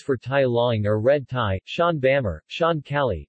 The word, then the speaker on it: Tai Laing: tie line pronounced tie liar regionally tiny is a